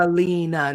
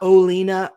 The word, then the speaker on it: Alina: Joseph, just so you know, it is Alina. Alina with an A. Alina, not Olina.